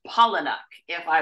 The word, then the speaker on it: Palahniuk: right now transitioning immediately to Chuck pronounced pollen if I will so the 30